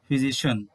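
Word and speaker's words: physician: তো শিয়ান নয়, উচ্চারণটি হচ্ছে শন, বিউটিশিয়ান, ফিজিশিয়ান।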